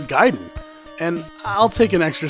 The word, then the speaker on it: Gaiden: America at that time called the game Ninja gayen not because it was funny to call things gay and nothing stupid like that it's just that we didn't know how to pronounce the word giden and I'll take an